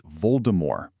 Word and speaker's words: Voldemort: If you want to pronounce his name exactly as the author intended, the T at the very end is actually silent. It's Voldemort.